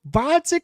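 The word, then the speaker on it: Gvozdyk: to 175 to fight bodik with the silent G oh my God oh my God that what a boss move what a tough what a boss he's fighting vodic he's pushing 40 he's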